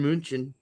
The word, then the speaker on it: München: It's Bayern München.